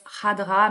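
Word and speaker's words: Khadra: peu à l'arabe donc ça se prononce Hadra mais ça s'écrit avec un K au début euh et Yasmina Hadra c'est le de premier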